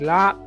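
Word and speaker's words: larb: So my mom made lap, which, you know, she makes it the traditional way. So if you go to a Thai restaurant and you order lap, it's L-A-R-B, but it's pronounced lap.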